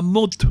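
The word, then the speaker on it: MUD: Pero mira, bueno, y la MU le envió una carta a Henry Falcón. La MU. Pronuncia la D, la MUT.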